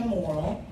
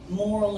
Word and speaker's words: Morrill: My name is Morrill. Morrill, that's my Korean name. Annyeonghaseyo, and 감사합니다. And my last name is pronounced moral as in good moral principles.